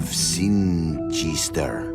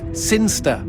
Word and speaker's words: Sinchester: But Elliot Thomas was still stuck down on Earth in the boring town of Sinchester. Sinster. What? It's pronounced Sinster. How do you know? My cousin's from Sinster.